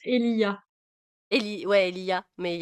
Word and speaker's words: Elijah: Je crois que ça se prononce Elia.